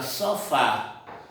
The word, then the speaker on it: sofá: acentuadas como por exemplo a palavra sofá sofá voz percebemos que a sílaba tônica ou a mais forte é pa é a última é oxítona então termina em vogal